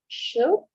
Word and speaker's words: should: In this other part, letter L, we don't pronunciate it. Okay. It's just like should. We go directly to letter D, and could, right? I go directly. I'm pronouncing directly the letter D.